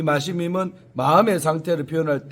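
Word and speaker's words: משמים: 두려워 떨며로 번역된 마시밈, 이제 히브리어로 마시밈이라고 발음을 하는데 이 마시밈은 마음의 상태를 표현할 때 당황스러움을 바로 뜻하는 단어가 바로 이 단어입니다.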